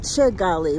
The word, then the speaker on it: Kigali: It's pronounced Kigali with the K.